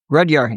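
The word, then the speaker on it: Rudhyar: Rudyard, yeah, that's how you say his name.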